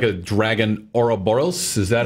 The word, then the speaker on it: Ouroboros: Yeah, and you've got 3 dragons on her, and it looks like a dragon Ouroboros.